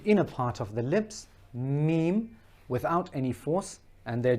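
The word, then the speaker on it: ميم: The difference with ba and meem, meem, I like to call it its smaller sister. So meem, just like the M in English, it's when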